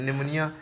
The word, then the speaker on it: pneumonia: निमोनिया, PNEUMONIA है, न्यूमोनिया लिखते हैं, पी साइलेंट होता है, नमोनिया पढ़ते हैं ना।